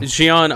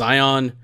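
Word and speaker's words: Xion: pronunciations in organized members don't know shion I read that as ion yeah Maura Luxio not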